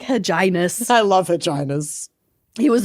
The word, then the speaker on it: Hyginus: Huginus. Huginus Aquinas. Vaginus. Dentitis. Rewindus. Rewindus. It's Hyginus. Hyginus. He was very clean. I like Hyginus.